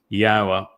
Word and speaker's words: Yahweh: God's name is pronounceable. It is Yahweh. There is no B sound in the original Hebrew language.